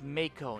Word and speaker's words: Mako: pronouncing and running around it's Mako not mock oh it's not a